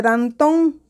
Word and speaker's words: Danton: al reclamo viril de danton dón lleva acento en la sílaba t y termina en la con consonante n por lo tanto es una palabra aguda cuando separamos en sílabas